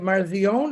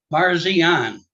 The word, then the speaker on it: Parsian: say your last name is that marzion is that I pronounce it or I'm going to say it wrong so you just correct me please sir Parsian I was close yeah